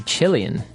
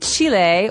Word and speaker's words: Chile: a Brazilian and a Chilean. Okay, so Brazilian. In this country, there are many Brazilians. And Chile, or Chile, as many Americans say, has people called Chileans.